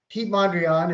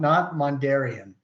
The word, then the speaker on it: Piet Mondrian: Piet Mondrian is spelled Pietmondrian, not Mondarian. So I have OCD, and these guys, between the two of them, pronounce his last name like 5 different ways.